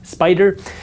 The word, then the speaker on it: SPDR: SPY is created by SPDR, pronounced Spider.